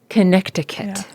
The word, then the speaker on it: Connecticut: Connecticut. But we don't annunciate those T's.